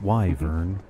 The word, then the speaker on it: wyvern: in the night wyvern wyvern like you're saying wyvern exactly have you ever seen one you'd be